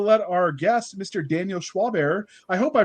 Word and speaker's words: Schwabauer: ado uh we'll let our guest mr daniel schwaber i hope i pronounced that right uh schwab hour schwab okay i wasn't using a quote it